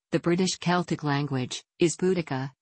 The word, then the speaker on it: Boudica: and bodega in Algeria the closest English equivalent to the vowel in the first syllable is the O in bone arrow genres suggested that